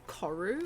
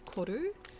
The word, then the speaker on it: koru: the Māori people by pronouncing it koru all the time when it's koru, but I also don't expect any of you to say koru because it's the Māori pronunciation.